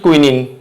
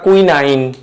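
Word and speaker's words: quinine: তাহলে ম্যালেরিয়া রোগের প্রধান ওষুধ কুইনিন। কি? কুইনিন বা কুইনাইন, যেটা উচ্চারণ করো। আমরা তো NINE, আমরা তো সাধারণত এটাকে 9 হিসেবে উচ্চারণ করি, 9।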